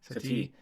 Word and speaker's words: Satie: Satie.